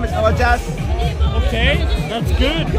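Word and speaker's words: Elajjaz: Yeah, my name is Elajaz. Okay, that's good. How do you spell that?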